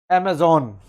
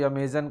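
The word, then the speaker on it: Amazon: इसका प्रोनाउंसिएशन है अमेज़ॉन। ये आप इसको आगे से अमेज़ॉन ही प्रोनाउंस करेंगे, अमेजन या कुछ और नहीं बोलेंगे।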